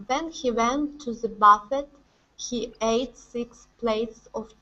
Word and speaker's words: buffet: one for you is buffet okay the stress is on the end and the e t is more of an a sound this is a french word buffet okay instead of awesome